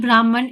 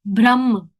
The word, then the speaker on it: Brahman: parmatma and bhagan impersonal so sorry it's not Brahman it's Brahman Brahma n is silent so yes brah parmatma and bhagan impersonal